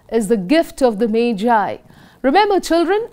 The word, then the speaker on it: Magi: The title of the lesson is The Gift of the Magi. Remember children, it's pronounced as Magi, not Maggie.